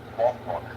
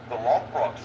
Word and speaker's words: Lothbrok: Now, at the end of the ones that had Ragnar, Lothbrok, that's how you say his name.